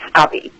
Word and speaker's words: Stoppy: Like a stop sign with a long E at the end. Stoppy.